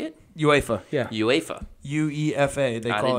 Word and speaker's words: UEFA: UEFA, yeah.